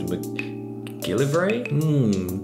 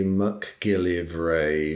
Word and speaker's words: McGillivray: I always say McGillivray. That's how we pronounce it south of the border. Okay. North of the border, it's McGillivray. But when I pronounce it like that, then people leave out an I when they spell my name. So I say McGillivray. Okay. So they have a better chance of spelling it.